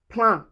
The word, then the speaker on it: plein: Also, anywhere you see E I N or E I M, you pronounce it as un. And you can find it in plan. Plein, which means full.